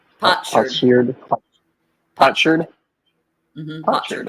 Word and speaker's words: potsherd: Potsherd. Potsherd. Potsherd. Potsherd. Potsherd. Mm-hmm. Potsherd. Potsherd. Okay. So kind of like a pot shard. A shard of pot.